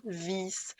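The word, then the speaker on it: vies: Parce que si le i est écrit tout seul, c'est un son court, comme dans vis. Par contre, si le i est suivi d'un e, c'est un son long et donc ça devient vis.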